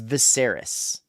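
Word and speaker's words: Viserys: This king is Viseris. That's how you say his name here. I have it written down. That's how you spell it. Viseris. And his name is Viseris Targaryen.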